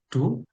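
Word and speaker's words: 堂: Ini cara membacanya do ya. Seperti yang sebelumnya juga bahwasanya kanji itu ada dua cara baca. Yang pertama unyomi dan kunyomi. Nah, untuk kanci ini cara bacanya hanya ada on yominya saja. Untuk kunyominya itu tidak ada.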